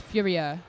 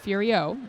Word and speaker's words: Furia: a few comments already that is how he wants his name pronounced I was told this he has a fabulous brilliant accent cuz he's actually from France and so he is Furia not furio like us lazy Americans tend to call